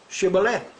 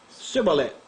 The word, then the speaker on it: Shibboleth: If he said no, then they would say to him, then say, Shibboleth. And he would say, Sibboleth. For he could not pronounce it properly.